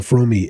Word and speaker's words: Fromme: Lynette Fromme, and Fromme is the correct pronunciation, according to Lynette herself, had been kicked